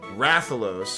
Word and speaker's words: Rathalos: Call the Rathalos, official pronunciation, Rathalos, because I thought it sounds cooler, and, you